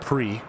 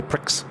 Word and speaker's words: Pre: House of pre pronounced pre people that want to say Pricks but House of pre and she's out here